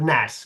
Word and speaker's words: gnats: as much as I can muster, except gnats. God, I hate gnats. I am very Gnats. Say it right. Okay, gnats. You might not be able to see them, but you say the G.